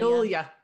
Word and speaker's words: Julia: the name always julie it's not julia it's not two syllables it's three like julia roberts julia not julie julia what made john well